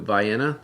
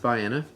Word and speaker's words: Vienna: nap sipped down to Vienna looks like Vienna but it's pronounced by Anna and this year they